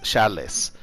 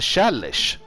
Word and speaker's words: Chalice: Och ja, jag sa Miss Chalice. För jag har uttalat det Chalice fram tills nu. Och det är fel, det ska uttalas Chalice.